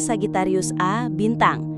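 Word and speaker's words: Sagittarius A*: Diucapkan Sagittarius A bintang dan disingkat SGRA Astrix.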